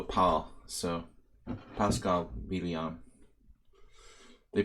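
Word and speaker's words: Pál: call him Paul yeah the Hungarian pronunciation is like Paul without the you like it like it looks and you say Banco Paul so Pascal medium they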